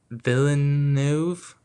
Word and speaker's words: Villeneuve: Um yeah, and the director is Dennis, and I think I'm saying Villain Villeneuve, I think is how you say it.